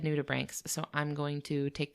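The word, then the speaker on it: nudibranch: Atlanticus and I repeatedly referred to them as nuda branches. Okay, that's how that's how I would have pronounced it too.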